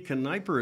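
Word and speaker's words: Knepper: this young lady uh Kiper is that correct am I pronouncing it right Kiper Kiper how do you spell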